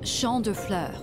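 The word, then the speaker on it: Champs de Fleurs: imagined Champs de floors how do you say that it's Shand FL it means fields of flowers this is the place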